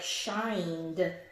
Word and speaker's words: shined: of these are ED, it can just sound like a straight up duh. In a word like shined.